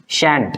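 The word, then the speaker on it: shan't: क्या लिखा है ये, शैंट। क्या लिखा है, शैंट बोलना है इसको, शैंट, ठीक है, क्योंकि शैल होता है वो, तो इसका शैल लेना और नॉट, शैल नॉट को शैंट बोलते, क्लियर।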